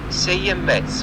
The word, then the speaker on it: Seiemmezzo: Seiemmezzo. Once more, please. Seiemmezzo. So, Seiemmezzo. So this is the newest Moto Morini model, and the name is also written on the side of the bike, this Seiemmezzo, and it is meaning 6.5.